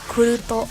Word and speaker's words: Kuruto: I don't know the real way of saying Kruit, Q-R-U-I-T, but it's Kuruto, at least in the Japanese pronunciation.